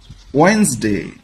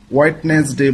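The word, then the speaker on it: Wednesday: এটাকে আমরা ইংরেজিতে বলি ওয়েনসডে ওয়েনসডে ওয়েনসডে এটাকে আমরা অনেকে ভুল উচ্চারণ করে থাকি হোয়াইটনেস ডে বলি আসলে উচ্চারণটা হবে ওয়েনসডে ওয়েনসডে এখানে ডি এর উচ্চারণটা হবে না স্পেলিংটা অর্থাৎ বানানটা হচ্ছে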